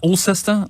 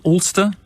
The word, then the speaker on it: Ulster: So David from Ulster, I don't know, how do you pronounce that? Ulster? Ulster, you've got it right, yeah.